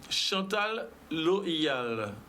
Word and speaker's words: Chantal Loial: Alors, nous avons aussi Chantal Loyal. J'ai bien prononcé?